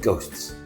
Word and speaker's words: ghost: These letters are like ghosts. the dare on the page but never spoken. The word ghost also contains a silent letter. It has a silent H.